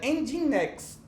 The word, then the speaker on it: Nginx: Se pronuncia Nginx.